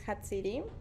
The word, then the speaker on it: Jatziri: So it's a name from Mexico, so and I pronounce it on Spanish, Mm-hmm.